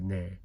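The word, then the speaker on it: 네: the word for yes, ne. I've noticed it's about 80% of the time people pronounce it more like nasalized de. 20% of the time they might say ne.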